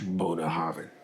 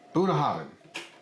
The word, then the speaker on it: Bunnahabhain: So this is Bunnahabhain. You almost gotta say it like throaty. Yeah, get it back there. I mean most Gaelic is kind of an aggressive language. Bunnahabhain. Bunnahabhain, 18.